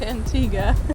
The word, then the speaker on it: Antigua: favor Spanish Nazis the original Christopher Columbus it's pronounced Antigua Christopher Columbus was the first European